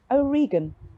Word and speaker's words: O'Regan: your name again O'Regan rhymes with o vegan wonderful thanks very much